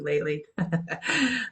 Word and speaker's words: Lately: um kitly a lot kly rhymes with lately LinkedIn is a good